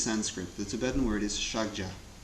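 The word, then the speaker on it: ཕྱག་རྒྱ: The Tibetan word is shagja. 2 syllables, the first of which, shak, Milarepa says, is a code word for emptiness.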